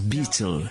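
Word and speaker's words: baetyl: Et c'est amusant puisque le mot en anglais se prononce beetle, le scarabée.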